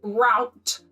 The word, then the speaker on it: route: Okay, so clearly Colleen has an American accent and she pronounced root as route, which therefore would rhyme with clout.